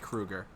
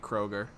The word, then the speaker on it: Kroeger: I've never heard his last name pronounced Kruger. I always pronounce it Kroger.